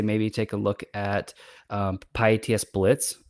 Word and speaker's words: pyATS: So shout out to pyATS Blitz for that. But hopefully that answers the question. Yes, thanks for that. And I realize I've been pronouncing it wrong. There's so many acronyms. I've been saying pyATS.